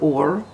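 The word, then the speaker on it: אור: Aleph a fresh oh it's pronounced like the word or or like or oor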